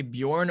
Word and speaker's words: Bjørn: So that's what pronounces Bjorn.